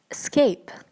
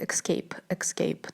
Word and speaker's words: escape: Не знаю почему, но многие люди говорят escape. Там нету буквы K, откуда они берутся. У людей в голове я тоже не знаю, но правильное произношение в данном слове будет именно escape.